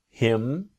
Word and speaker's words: him: The idea again about her to is native speakers don't always pronounce the letter H when we speak quickly. Here for example, I can ask him.